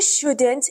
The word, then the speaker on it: shouldn't: you couldn't come you shouldn't eat so much food you shouldn't do it but they don't say couldn't and shouldn't they remove the D